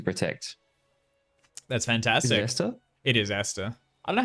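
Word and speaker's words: Aesther: do anything to protect that's fantastic it is Esther I know how you pronounce that a-a-e-s-t-h-e-r yes there we go excellent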